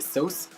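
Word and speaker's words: Sauced: Donc du coup je vais prendre le fard Sauce, donc je sais pas si on dit Sauce 7, normalement on prononce pas le ED, donc normalement c'est Sauce.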